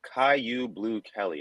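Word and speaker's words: Kyu Blu Kelly: All right, so next pick is going to be in round 5, cornerback Caillou Blue Kelly, and that is how it is pronounced.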